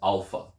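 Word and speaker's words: άλφα: of the alphabet is alpha alpha it is pronounced a as in Father Alpha the next letter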